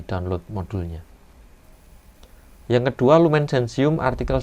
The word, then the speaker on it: Gentium: Tulisannya Gentium, bacanya Gentium.